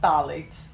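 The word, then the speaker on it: phthalates: This does not have phalates. The pH is silent in that.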